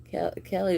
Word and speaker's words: Caillou: Caillou is pronounced Caillou.